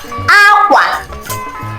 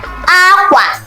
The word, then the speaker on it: akwa: Aqua. Aqua for clothes. Aqua. You can see that it has the same spelling with bird, but not the same pronunciation.